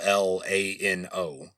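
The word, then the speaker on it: Llano: So yeah, these are the official Texas pronunciations of these towns, but at the Lano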